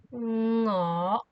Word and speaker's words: 我: We'll use the no sound at the beginning. 我, 我, like this.